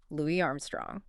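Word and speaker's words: Louis Armstrong: I mean, the culture has entirely settled on that pronunciation. Completely. Like if you were at a trivia night and you confidently referred to him with a hard S, you know, Louie, someone would probably politely correct you.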